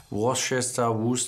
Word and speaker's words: Worcester: dann kommen noch mal wusste hier was Worcester auch gesprochen umgangssprachlich das ist so eine englische Würzsoße die Soße wird glaube ich wusste ausgesprochen aber worschester sowas ist der hire wir wissen ja alle was gemeint ist jetzt darf auch endlich